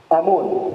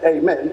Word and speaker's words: Amen: You don't say Amen, you say Amun, because we use the Nun at the end.